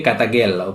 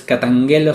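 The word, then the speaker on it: καταγγέλλω: Después se escribe katagelo, pero es katangelo se pronuncia en español, ¿sí?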